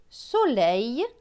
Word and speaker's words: soleil: L avec E-I-L. E-I-L se prononce eille. Donc L et eille, leille. Donc ce mot va se lire soleil, soleil.